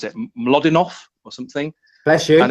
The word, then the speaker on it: Mlodinow: is, I think, I'm not sure how you pronounce it, Mlodinov or something. Bless you. And it's called, yeah, thank you. Mlodinov, say it again. Bless you. Someone will tell me I'm pronouncing that completely wrong. Mlodinow.